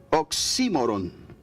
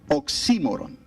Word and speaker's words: oxímoron: había escuchado esta palabra, es un oxímoron, acento en la I. Tuve que practicar esta palabra, oxímoron.